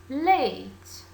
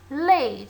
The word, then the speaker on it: late: The opposite of early is late. Very good. Late. So we cannot pronounce the word late as lat. Okay? So pay attention please to the pronunciation of your teacher.